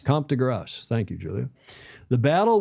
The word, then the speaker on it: de Grasse: How do you say that? Grasse? Comte de Grasse. Comte de Grasse.